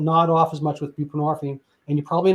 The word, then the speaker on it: buprenorphine: But to be fair, Suboxone came along, and that's buprenorphine, and people are like, what is that? Well, I mean, the hint is it rhymes with morphine, which is derived from